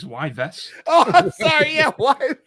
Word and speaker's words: Yves: pronounce Eve's Guillemot. He just looked at GMT and was like, it's the same thing. Who's Eves? It's Yves.